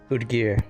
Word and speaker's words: Udgir: Is that Odger or Odger? Udgir. Udger. Udgir. The O with the little hash line makes ood. Udgir.